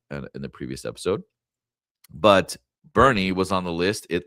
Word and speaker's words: Boerne: Um pronounced sometimes born, but that is incorrect. It's a fact. It's Bernie.